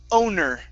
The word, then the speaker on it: owner: Next up is the word owner. Owner. Owner. Okay. Instead of owner. Okay. Curve the tongue up to pronounce the R.